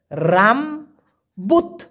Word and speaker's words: rambut: যেমন আমি যদি উদাহরণ দেই, ধরেন মালয়েশিয়ান ভাষায় রামবুট, RAMBUT উচ্চারণ হবে রামবুত, কারণ টিটাকে, এই টি ওরা উচ্চারণ করে তয়ের মতো।